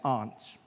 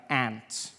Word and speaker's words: aunt: you by for instance I pronounce the opposites of Uncle as aren't I say my arms out here you say my aunt which to me is an insect which made me look